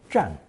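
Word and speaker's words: 佔: But with a person radical 人 added on the left, pronounced 4th tone, 占.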